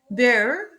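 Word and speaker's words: Bär: Bear, bear, il s'écrit avec A umlaut et il se prononce E, bear, ours, bear.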